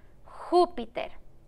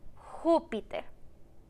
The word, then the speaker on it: Júpiter: como para mamá números hoy vamos a poner un acento en la letra así para que el nombre se escuche más fuerte en la jupiter júpiter dilo conmigo júpiter muy bien y como